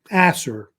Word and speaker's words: Ashur: It's actually pronounced Ashur. They say, or actually either pronounced Ashur or Assur, because it's a debate about how they say the name.